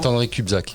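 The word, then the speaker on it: Saint-André-de-Cubzac: J'espère que je prononce bien. Saint-André de Cubzac. Comment Saint-André de Cubzac, exactement.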